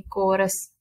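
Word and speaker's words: chorus: सीएच यहां पर देखें कोरस। यहां पर सीएच किसकी आवाज दे रहा है? के की।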